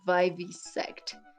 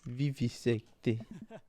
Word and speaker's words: vivisect: And also maybe in some different woods than the ones where little kids like to vivisect things. Vivisecte. No, is that how you say it? No, vivisect.